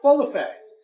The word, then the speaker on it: Bolufé: said it right good can you say my name right balaf oh my goodness how many times did that taken to say b a lot makes perfect I have the accent on the wrong Sal we're in your lovely